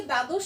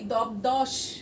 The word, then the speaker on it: দ্বাদশ: তোমরা দেখো, আমরা কি কখনো বলি দবদশ বা দাবদশ, এরকম উচ্চারণ করি? ব যে আছে সেটার উচ্চারণ করি না। আমরা কি বলি? দ্বাদশ। এখানে যে ব আছে সেটা আমরা কখনো উচ্চারণে ব্যবহার করি না।